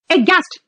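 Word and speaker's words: aghast: देखो बेटा लिखा है अगास्ट, लेकिन बोलते हैं इसको एच साइलेंट, एगास्ट फ्लैबगास्ट डंबफाउंडेड, एगास्ट फ्लैबगास्ट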